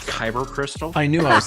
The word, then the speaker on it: Kyber: like they talk you through the whole like caver crystal nonsense and all that nonsense that's crazy uh it's pronounced kyber crystal i knew i was saying it wrong